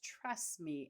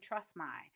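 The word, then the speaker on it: Trustmi: for this one now the next one is trust me and it's spelled t r s TMI and I talked about them on episode 279 although I kept calling them trust my but I had a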